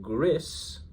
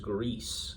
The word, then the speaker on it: Gris: and she asked me about it and I was like, "Oh, those are by the developers of Gris. Maybe it's pronounced Greece, though that would be unfortunate."